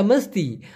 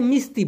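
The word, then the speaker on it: mesti: আচ্ছা মস্তি, মস্তি মানে হচ্ছে অবশ্যই, অবশ্যই মস্তি। অনেকে এটাকে মিস্তি বলে, হ্যাঁ মিস্তি বলে, মিস্তি, মূলত উচ্চারণটা হবে মস্তি।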